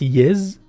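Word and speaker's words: ⵣ: Et le symbole en rouge, c'est un Z, on le prononce Yez, en fifinard, qui est un système d'écriture de Tamazigh et qui fait référence au sang des martyrs amazirs.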